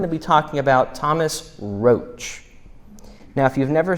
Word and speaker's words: Rotch: be talking about Thomas roach now if you've never said his name before it's spelled r o t c it is annunciated R OAC I know because there's a street called Roch so this is from